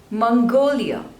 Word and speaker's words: Mongolia: Monaco Monaco Monaco monco Mongolia Mongolia there are total three slavers and the stress is on the second one Mongolia Mongolia Mongolia Mongolia